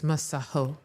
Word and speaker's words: Masego: It's a South African name. It's Maho."